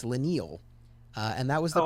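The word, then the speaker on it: Leinil: name because i've heard leno lanal lionel and according to mark wade it's la neil uh and that was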